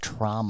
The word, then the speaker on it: Troma: he started his career it's pronounced trauma so that's why it's so like an injury that's why it's so